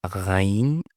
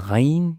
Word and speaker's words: ghain: While ghain, no, there's vibration come from the throat. And also, ghain is more like softer, you know? Kha is more strong. Okay? Kha is more when you pronounce, like when you clean your mouth, you know? When you clean your mouth in the morning, you make kha, right? While for ghain, it's more like vibrated.